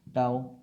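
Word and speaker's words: tau: Okay, इसका symbol जो, इसको जो टी जैसा दिखता है उसको टाउ बोलते हैं। ओके, हिंदी में ताऊ, ताऊ जो होता है वही स्पेलिंग, बस त को टो कर देना है, ताऊ टाउ।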